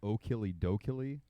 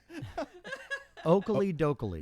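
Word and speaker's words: Okilly Dokilly: I'm sure they're Oakley Dokley. Yeah, but it's like O'Killy instead of Oakley.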